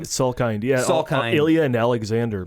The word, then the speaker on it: Salkind: Is that how you pronounce their last name? Salkind, yeah.